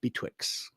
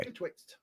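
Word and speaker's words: Betwixt: And he is up in the Bwix. Did I say it right? You're close. Okay. Betwixed. Oh, I left off a T.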